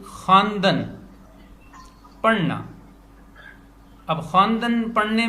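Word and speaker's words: خواندن: खा, वाव, अलिफ, नून, दाल, नून, खानदन, पढ़ना। अब चूंकि लिखने में वाव आती है लेकिन पढ़ने में नहीं आती, तो इसको अंग्रेजी में साइलेंट कहते हैं, और इसकी अलामत को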